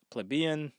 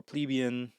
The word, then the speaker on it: plebeian: i got two words i got plebeian or plebian or plebeian whichever way you want to say it i like plebian so i'm going to call it plebeian it feels smooth